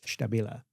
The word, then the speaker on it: STABILA: And I do say to them, well, if you were in our factory, you would say it STABILA.